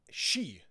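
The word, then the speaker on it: sídhe: the show Merlin and they were pronouncing s d h e which is the fairy folk the F folk yeah she she yeah that's how you pronounce that and that's when I realized oh that's why it's a ban she like the banshe and things like that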